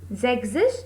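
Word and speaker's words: sechzig: it as zek zush as i said s and z cannot be written together so s is eliminated so the pronunciation and the spelling will become zexis and s e c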